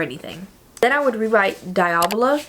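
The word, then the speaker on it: Diavola: then I would rewrite diola I think is how you say it by Jennifer Thorne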